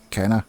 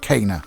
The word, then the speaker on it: Kena: kana bridge of spirits i think it's kana i would said kenna or kina or but it's pronounced in the game kana for some reason and this is a